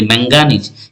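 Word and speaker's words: manganese: উপর এজন্য দেখো ম্যাগনেসিয়াম আর যদি বলি ম্যাঙ্গানিজ এখানে এন এর উপর পড়ছে এজন্য ম্যাঙ্গানিজের সংকেতটা কি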